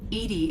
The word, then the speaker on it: EDI: airlock is ajar why are you named edie edie is the phonetic pronunciation of edi that is an acronym for